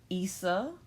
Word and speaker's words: Isa: next rune on the list is it is pronounced Issa but I've always known it and said it myself as eisah just because our I in English especially in